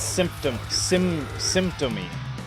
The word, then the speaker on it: Symptomy: I think it's Symptomy, not Simbotomy. I switched the T and the O.